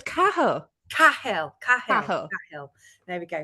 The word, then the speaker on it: Cahill: I've been saying No, it's Cahill.